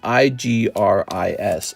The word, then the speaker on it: Igris: All right, here's a little Red Knight Igris. Six was telling me how to say this name right. It's spelled I-G-R-I-S, so it's Igris.